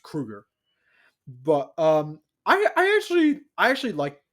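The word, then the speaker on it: Kroeger: or as he pronounced, or as it's properly pronounced, Kruger.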